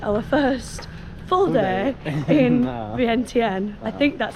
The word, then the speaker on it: Vientiane: It is officially our last full day in Laos and our first full day in Vientiane. I think that's how you say it, Vientiane.